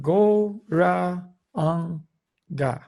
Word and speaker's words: Gauranga: So the mantra is Gauranga, and we're going to divide Gauranga into 4 syllables. Go, Ra, Ang, Ga.